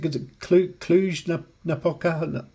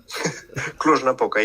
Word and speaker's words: Cluj-Napoca: How do you pronounce it? Cluj-Napoca. Cluj-Napoca, yes.